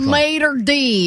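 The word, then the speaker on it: maître d': Well, you're like a maitre d'. Well, I mean, what- you sound like you're from Alabama. Jesus. I was going to cancel that word. Maitre d'. That's how you say it.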